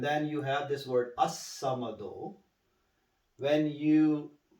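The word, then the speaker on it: ٱلصَّمَد: And then you have this word as-samado. When you say al-samado, right? Yeah. When you recite together, and then you have to chop this one down. You do not say al-samado. You say as-samado.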